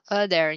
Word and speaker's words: other: Okay, chỗ này mình sẽ đọc là other nha, other. Other. Không là o được, mình sẽ đọc là âm âm ơ cơ. Other. Other.